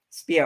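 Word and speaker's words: Speier: up her last name i don't know how to pronounce her last name jackie spire or jackie spear here spear okay yeah i know she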